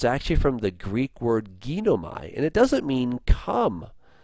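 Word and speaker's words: γίνομαι: The actual word is, as I said, from ginomai. Let me show you again, or ginome is the actual correct pronunciation there.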